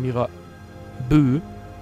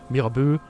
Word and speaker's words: Mirabeau: Aber wir müssen jetzt den Mörder von Mira Bö. Ich vergesse immer, wie das ausgesprochen wird. Bei Französisch hakt es bei mir. Mirabeau, den Mörder finden.